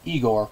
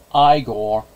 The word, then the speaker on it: Igor: our side characters they of course Inga and eigor oh wait wait wait my mistake my mistake it's pronounced igore played by Terry gar and Marty Felman respectively